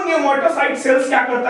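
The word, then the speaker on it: pneumocyte: अब इस squamous epithelium tissue में दो तरह के सेल्स पाए जाएंगे, एक टाइप 1 न्यूमेटोसाइट सेल्स, न्यूमेटोसाइट सेल्स यहां P साइलेंट हो जाएगा, और एक टाइप 2 न्यूमेटोसाइट सेल जिसमें टाइप 1 का कोई खास रोल नहीं है।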